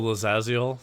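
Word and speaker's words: Lae'zel: oh I'm immune to disease now excellent It's pronounced what's that oh liazal the green chick yeah uh sacred weapon has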